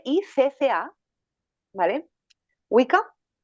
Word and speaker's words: Wicca: las que empecé fueron más bien la wika se escribe W I cca vale wika y bien la WIC es es una religión